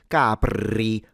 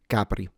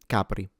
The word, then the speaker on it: Capri: Apart from that, the R, of course, is lightly trilled. Don't overexaggerate it and turn it into capri. You don't need to do that. But in general, capri capri. Do keep in mind that both the C, the P, and in general, all consonants in Italian are not aspirated. So it's not ca, it's not p, it's c-cp.